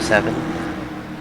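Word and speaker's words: Sevyn: State has a guy on their team named Seven. That would have been around the time the episode. Although it's spelled S-E-V-Y-N instead of E-N.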